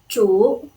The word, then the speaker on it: 主: The pronunciation is zhu, third tone.